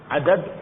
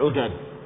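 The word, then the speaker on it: عُدَد: Tapi jangan salah bacanya. Adad udad.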